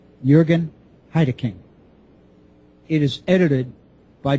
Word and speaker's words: Jürgen: The author of the book is Jürgen Heideking, obviously German. First name Jürgen, J-U umlaut, R-G-E-N. Last name is spelled Heideking, H-E-I-D-E-K-I-N-G. Jürgen Heideking.